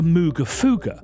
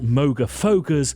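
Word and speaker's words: Moogerfooger: Well, 22 years ago they invented these, the Mooga Fuga, which to my knowledge are not pronounced Moga Fogas, Moga Fugas or Mooga Fogas.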